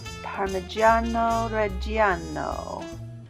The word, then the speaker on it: parmigiano reggiano: our parsley basil and parmigiano reggiano you gotta say it like that next we're gonna have